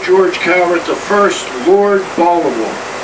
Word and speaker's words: Baltimore: Now, I'm a Baltimorean, so I say Baltimore, but Baltimore is how most people pronounce it. I'll bet you guys from Baltimore say Baltimore too. If you've lived here a while, you would kind of forget the T.